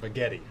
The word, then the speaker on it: Bagetti: uh a $16 device called bagetti rhymes with spaghetti okay uh lots of